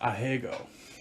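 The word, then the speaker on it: ahegao: it's uh it's pronounced he's in lightness it's pronounced a hegel hegel a-h-e-g-a-o that's how you would spell it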